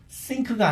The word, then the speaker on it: think: think가 아니라 왜 think라고 발음을 하냐면 혓바닥을 활용 안 했기 때문에 그래요. 자, 혀를 어떻게 윗니 아랫니 사이에 껴줘요. think.